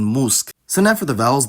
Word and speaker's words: mózg: But even with the cluster voicing rules, it should be mentioned that the word-final devoicing rule takes priority, so word-final clusters will always have voiceless obstruents, like in mózg.